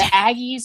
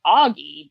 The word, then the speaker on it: aggie: now been educated on the proper pronunciation and meaning of the term aggie while hearing auggie deeply hurt my soul i remain so